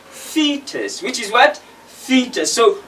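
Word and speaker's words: foetus: like that which is f or e tu s which is fetus which is what theta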